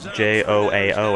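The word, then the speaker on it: João: And that's why I know in Portuguese they usually pronounce J-O-A-O as Joao.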